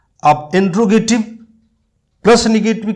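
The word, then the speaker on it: interrogative: इंट्रोगेटिव, इंटेरोगेटिव, ये हमेशा ध्यान रखना, इसकी स्पेलिंग भी पूछी जाती है हमारे कई एग्जाम में। इंटेरोगेटिव होता है, इंट्रोगेटिव नहीं होता है।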